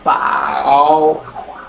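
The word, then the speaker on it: 饱: পাও পাও এটার উচ্চারণ এটার উচ্চারণ কিন্তু সেইম কিন্তু টোনের কারণে উচ্চারণ হবে আলাদা এটা হচ্ছে ফার্স্ট ওয়ান ফ্লাট আকারে যাবে আর এটা হচ্ছে থার্ড ওয়ান পাও এই পাও মানে কি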